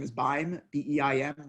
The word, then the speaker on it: Beim: my last name is buying the ein and rhymes with time so it's fine time